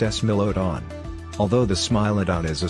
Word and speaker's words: Smilodon: several lineages one of which is the smilodon pronounced s melodon although the smilodon is a single species it